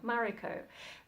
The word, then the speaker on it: Mariko: I think that's the pronunciation they've settled on, Mariko.